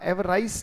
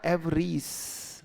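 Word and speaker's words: avarice: Next sentence and word, अगला word पढ़ा जाएगा, उच्चारण ध्यान से करना, एवराइस नहीं बेटा। हाँ, ये पढ़ा जाएगा एवरीस।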